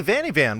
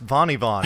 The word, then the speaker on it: vanni_van: whatever, be like, oh, hey, Vanni Van, what's up? And I'm like, actually, it's pronounced Vanni Von.